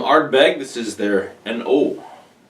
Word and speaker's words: An Oa: is there an oh I've heard this pronounced is both inoa and and all so couldn't really figure out definitively which one it was but knowing the Scots I'm gonna go with a no on this one anyway the mole of